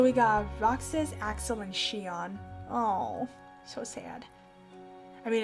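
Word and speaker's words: Xion: member a girl named Shion yeah that's pronounced Shion even though it has an ex slowly the two wants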